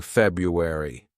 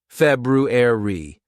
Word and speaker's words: February: after me a Ru February okay this actually a word that's mispronounced by lots of students because they sometimes say February it's not February it's February re ruer February now you've got it good